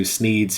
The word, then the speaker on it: Sneed: the shop is called sneed's Feed and Seed where Feed and Seed both end in the sound Eid thus rhyming with the name of the owner Sneed it's call me a